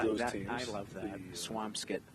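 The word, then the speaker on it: Swampscott: Swampskit, not Swam Scott.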